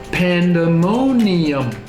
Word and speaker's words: pandemonium: It's 5 syllables this time. Pandemonium. Beginning is kind of like the animal, the panda, right?